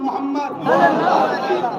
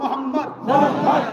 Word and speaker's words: মোহাম্মদ: সবাই একবার বলুন মোহাম্মদ আপনারা এবার উচ্চারণ করুন মোহাম্মদ খেয়াল করে দেখুন নবীর নাম নিলে দুই ঠোটে ঠোট ঠেকছে বলুন মোহাম্মদ আমার নবীর নাম চুমা